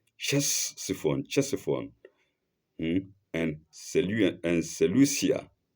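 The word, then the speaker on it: Ctesiphon: No, not Christophon. One of which were Chessifon Chesifon and Seu and Seucia on opposite banks of river Tigris.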